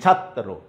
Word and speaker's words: ছাত্র: ওকে, তাইলে তুমি দেখো আমি ছ আকারের তো আর কোনো পরিবর্তন নাই, ছাত একবার, তারপরে ত রফলা ওকার, এই যে ছাত্র, এখানে ত একবার উচ্চারণ